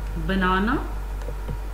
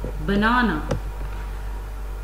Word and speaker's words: banana: As you can see in the word banana, banana, the other sounds are less clear. The sound in the center is pronounced more clearly.